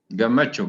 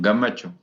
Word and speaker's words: Gemechu: Your name pronunciation, I am Gamacho, Gamacho. Gemechu, correct.